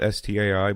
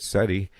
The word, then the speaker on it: SETI: wanna let you know steady not sta I but SETI is the search for